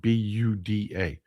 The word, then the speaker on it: Buda: The town is spelled B U D A, but it's pronounced pronounced Buda.